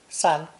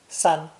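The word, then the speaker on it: 三: representing the number three pronounced first tone sun sun we've already seen how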